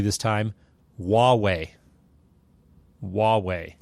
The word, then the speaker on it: Huawei: transliteration for a reason the beginning is pronounced the same as wand so if you can